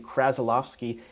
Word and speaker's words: Krasilovsky: And the reason why I am telling you how to pronounce my name, Krasilovsky, is because there is actually another Michael K